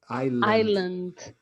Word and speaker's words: island: of iceland and ireland island we never pronounce the s before the l it's silent okay of island and